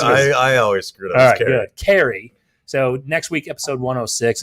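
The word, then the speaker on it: Cari: i want to say carrick it's carrie it's i think i say kari sometimes it's spelled c-a-r-i which seems like it's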